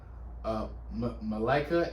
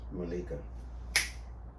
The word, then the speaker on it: Malika: And it was even better that they added Malika Andrews. I think her name is pronounced Malika.